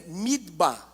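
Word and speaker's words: מדבר: isso mas a palavra deserto em hebraico é midb midb midb aí as letras re o v que pode ser também pronunciado como Bet o dalit e o Men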